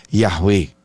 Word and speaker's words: Yahweh: hoy en día que la mejor transliteración y Por ende la pronunciación más cercana a su nombre sería Yahweh en lugar de Jehová tal y como podemos